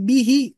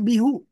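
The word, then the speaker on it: بِهِ: Yang tadinya dibaca hu, jadi dibaca hi. Jadi bihi, Bi bersambung dengan hu, maka dibacanya jadi bihi, bukan bihu.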